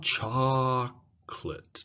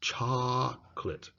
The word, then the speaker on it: chocolate: important is long so for example I love chocolate chocolate see the cha is longer the co and let are shrunk chocolate Okay so key point